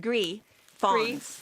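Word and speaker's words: gris foncé: it's pronounced Gris Fawns.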